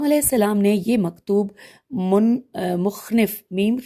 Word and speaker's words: مخنف: کیا ہے، امام علیہ السلام نے یہ مکتوب مخنف میم خ نون ف مخنف بن سلیم الازدی، ہجے کر دیتے میم خ نون ف، اور